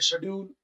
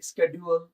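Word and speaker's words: schedule: British वाले बोलेंगे शेड्यूल, और अमेरिकन वाले बोलेंगे स्केड्यूल।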